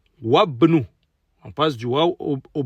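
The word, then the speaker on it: وابن: Wabnu. Wabnu. On passe du waw au bas direct. Le alif, le hamzatul wasl, il est là, mais ne se prononce pas.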